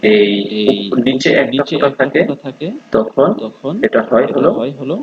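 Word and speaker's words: ت: দেখায় দিচ্ছি যদি এই নিচে একটা ফোটা থাকে তখন এটা হয় হলো পা আর যখন উপরে দুইটা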